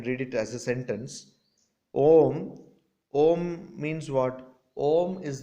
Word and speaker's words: om: it as a sentence om om means what om is the first manifestation of this universe the first manifestation of universe is om it has got three syllables a u m all words all sounds